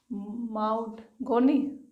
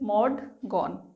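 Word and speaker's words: Maud Gonne: How will you pronounce this? माउड गोनी? No, that is मॉड गॉन।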